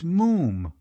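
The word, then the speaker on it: Moffam: the first time i told you father it's moom moam it's spelt m-o-f-f-a-m but pronounced moom to rhyme said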